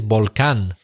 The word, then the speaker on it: volcán: So yes, the Spanish word is volcán.